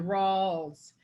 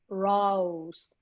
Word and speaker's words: Rawls: Activity and moving, you get raw, but to get up to that L, with continued voicing, it goes into Rawls.